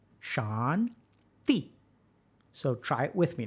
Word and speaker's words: Shanti: So put your tongue between your teeth. T, T, T, T, T, okay? Y'all got that? So this is how you say shanti.